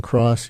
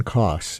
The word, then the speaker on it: Coss: I mispronounced your last name. I added an R. You are not Cross. You are Cross. COSS, right?